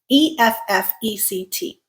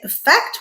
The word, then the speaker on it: effect: This is typically pronounced with that first E. It makes the I sound, okay? Or it can also make the schwa sound. So you can either say effect with the I or effect with the schwa sound, all right?